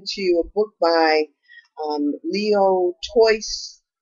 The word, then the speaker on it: Tolstoy: Tolstoy, is that how you say it? Okay, she said it's pronounced Tolstoy.